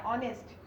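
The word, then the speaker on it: honest: इनकी दे रहा हो, जैसे मैंने आपको ये बताया ऑनेस्ट, आवर, ऑनर। तो ये सब जो है ना, आवाज देखिए यहाँ पे एच साइलेंट है लेकिन स्टार्ट ये एच से हो रहा है, आवाज ये किसकी दे रहा है, वॉवेल की दे रहा है।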